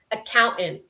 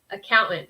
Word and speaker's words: accountant: without, even though it is spelt with a T, T-A-N-T, I don't really pronounce the penultimate T.